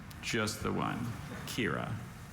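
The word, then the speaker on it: quira: Are there any alternate pronunciations? Just the one. Kira.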